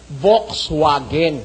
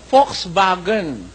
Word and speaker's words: Volkswagen: Yung mga Germans ang pronunciation nila dito sa kanilang ah popular na popular na kotse ano eh ganyan man ang spelling nila ma-pronounce ng ganyan ano as it was spelled dapat supposedly ang pronunciation niyan eh Volxwagen ' ba no as it is spelled. Pero ang pronunciasyon diyan ng mga mismong aliman Volkswagen.